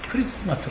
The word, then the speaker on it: Christmas: 'X' 라고 쓰여 있더라도 'X' 라고 읽으면 안 된다 고 말 했어 요 . 'X' 로 시작 한다 고 해서 'X-mas' 라고 부르는 건 무지 한 행동 이라 고 말 했어 요 . " 그리스도 " 라고 읽어야 합니다 . "X-mas" 라고 하지 않고 "Christmas" 라고 하는 게 맞죠 ?